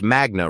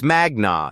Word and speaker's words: magna: You said magna cum laude Harvard Law in your introduction, but you pronounced magna wrong. It's magna, not magna. Latin stress patterns fall on the penultimate syllable when it contains a long vowel.